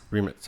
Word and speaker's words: Rimac: Rimac? Remitz.